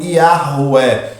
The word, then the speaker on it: Yahweh: Mas o que mais se aproxima dessa pronúncia é o Yahweh.